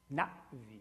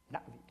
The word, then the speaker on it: Na'vi: And so the correct pronunciation of N-A apostrophe V-I is Na-Vi, Na-Vi, with a break there. Not Navi, Na-Vi.